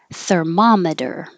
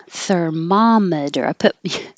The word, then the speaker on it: thermometer: kids derogatory derogatory derogatory thermometer thermometer alternate way to remember it as mom instead of ma if that helps you thermometer when you're sick you want your mom and a thermometer you can say